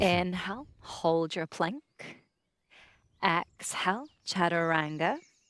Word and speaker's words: chaturanga: like 50 years worth why can we not pronounce chataranga DNA why why why why is it chaturanga chaturanga there's no there's no ah ah in Sanskrit there's no ah chaturanga just say chaturanga it's so simple it's so simple the